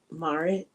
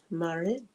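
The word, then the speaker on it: Maarit: I is pronounced like I in is Marit." Marit and two A's as long as in March.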